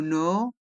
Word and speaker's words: nord: C'est au nord, le D de nord est muet, au sud de Paris.